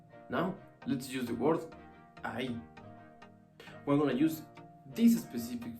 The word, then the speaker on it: ahí: This one is I, and this one is ahí. Notice it. The emphasis for this word is at the end, ahí.